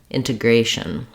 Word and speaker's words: integration: comes in there shun integration thank you you may want to start on the stress syllable to get the Rhythm correct for this last word that would sound like gration integration once you can say